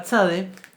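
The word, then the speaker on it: צ: para el hebreo moderno, se va a pronunciar TS. Tza, tza, tza.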